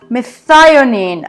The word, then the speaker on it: methionine: Okay, so I just checked on Google to see the pronunciation of this one. Methionine.